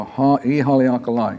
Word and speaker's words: Ihaleakala: But here in Hawaiian, the I is pronounced as E. It's an E sound.